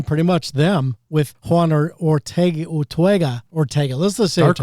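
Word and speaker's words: Urteaga: was Chuck Eric and Juan Ortega not Ortega unless that's how he pronounces it but there's an extra extra bit in there.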